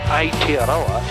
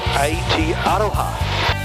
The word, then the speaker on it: Aotearoa: But I was over in Rarotonga and they informed me that the English mispronounced it. It's not Aotearoa, it's Aotearoa, which changes the whole meaning of it.